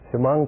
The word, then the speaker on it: Chemung: How do you pronounce it, Mike? Chemung Canal. Chemung Canal. It's phonetic. It's phonetic.